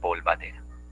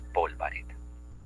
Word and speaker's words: polvareda: De decir polvadera, cuando lo correcto es polvareda.